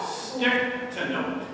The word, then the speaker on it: Stichtenoth: Uh she will interview a very energetic and active sole couple and Craig stick to note. If you like me were not aware that they pronounced your name stick to well then we've already learned one thing.